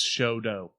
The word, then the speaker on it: Chouteau: It's Choteau.